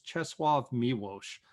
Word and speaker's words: Czesław Miłosz: It's Czesław Miłosz. Last name is spelled Milosz.